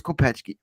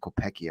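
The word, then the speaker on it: Kopecký: in his buddy Thomas Kopechki. Kopechki. I always say it wrong. I always just want to call him Kopecky. I want to pronounce it like it's spelled.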